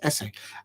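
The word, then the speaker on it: Esse: SS e and apparently he likes for his surname to be pronounced um as if you're writing an essay for University and you're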